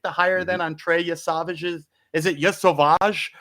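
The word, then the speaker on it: Yesavage: You said it right the first time. Trey Yavage. Y Savage. It's just Yavage, man. Yeah, it's kind of like Yeah, boy.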